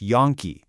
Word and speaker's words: Yonke: Yane Law, that's pronounced Yonke, is here to help you do just that.